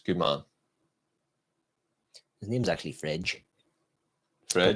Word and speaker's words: Fred: His name's actually Fredge. Fred. It's pronounced Fredge. It's Brazilian / Portuguese.